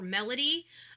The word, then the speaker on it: Melodee: right now designated for Melody uh Buzzard. It says, "Where is Melody Buzzard?" And her name is spelled M E L O D E. Melody D, not with a Y, with two E's.